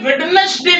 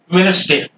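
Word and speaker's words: Wednesday: या hacker chief बोलेंगे यह वेडनेसडे नहीं है ज्यादा करके लोग वेडनेसडे पढ़ते हैं लेकिन डी यहां पर साइलेंट है क्या बोंगे वेनसडे वेनसडे और य सैंडविच लोग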